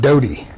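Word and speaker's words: dotty: that's used up north they call it dodie d-o-t-t-y like dottie but it's pronounced dodie or maybe it's dodd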